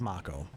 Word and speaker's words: Mako: sure on the pronunciation well the remake tells us it's mako okay because the remake